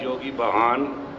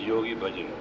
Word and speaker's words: Yogi Bhajan: I am known as Yogi Bahan in 60s. To pronounce correctly, it is Yogi Bhajan.